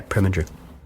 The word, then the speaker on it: Preminger: 40s uh another uh name ripe to be mispronounced Oto preminger is that right yeah preminger so Oto pringer directed this Jean TIY starred